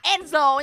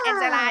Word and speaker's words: Angel: Đầu tiên, đó chính là Bobby và tiếp theo đó chính là Angel nha mọi người. Mình đọc đúng rồi nha mọi người, không phải là Angela nha, ok.